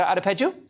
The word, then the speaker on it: Adepeju: I hope I pronounced your surname correctly, Dr. Adepeju.